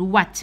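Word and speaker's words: what: كامل وينت ما تتنطقش كي تكون عندنا دبليو وموراها الاتش هنا الاتش ما تنطقهاش تقول وا كيما نقول وات ماذا اوكي زيد كاين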